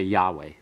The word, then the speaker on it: Yahweh: Just don't ever pronounce the vowels on it because they're artificial. They represent Adonai. So you just want to say Yahweh.